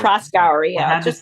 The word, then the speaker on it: Proskauer: Proskauer, I yeah, had to just say it. put the emphasis on the Proskauer. The cower is kind of after, you know.